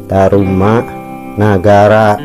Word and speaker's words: Tarumanagara: Nah taru ra ini supaya menjadi ru ya, kita beri tanda panyuku di bawah sini pemirsa ya. Jadi ini dibacanya bukan ra ya, tapi ada tanda panyuku, a nya berubah menjadi u ya. Tanda baca panyuku merubah bunyi a tadi menjadi u.